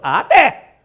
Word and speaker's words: até: Até tem 2 sílabas. Até.